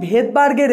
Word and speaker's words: Svedberg: এবার এসটাকে ভেদবার্গটাকে যখন আমরা ইংলিশে প্রোনাউন্সিয়েশন করি বা ইংলিশে লিখি, ইংলিশে এর স্পেলিংটা হয় SVEDBERG, ভেদবার্গ। ভেদবার্গের প্রথমে এস দিয়ে স্পেলিংটা শুরু হয় কিন্তু প্রোনাউন্সিয়েশন যখন হয় তখন এসটা সাইলেন্ট থাকে, তখন সেই জন্য এই